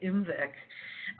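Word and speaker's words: IMViC: voc prescott and citrate the little tiny eye is just there for pronunciation purposes it's just to help you say umvic but again we run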